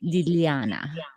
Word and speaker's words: Liliana: So the proper way to say my name is Liliana, right?